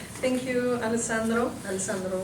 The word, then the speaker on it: Alessandro: Alessandro, right? Sí. Yes, así estoy pronunciando bien.